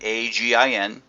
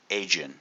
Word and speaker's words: Agin: introduced me as Agin. Mispronounced the name. It's Agin, hard G.